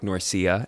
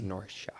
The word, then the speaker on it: Norcia: It's spelt like Norcia, Norcia, but it is Norcia.